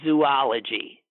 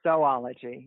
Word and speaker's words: Zoology: crazy she says it's zoology there is no zoo in Zoology it's oology yeah yeah yeah one